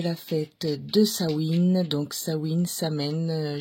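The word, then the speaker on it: Samhain: fête de sawin donc sawin Samè j'ai lu dans un livre que ça s'écrivait Samè mais que ça se prononcer sawin donc voilà donc je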